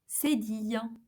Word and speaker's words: cédille: And finally, we have the cédille.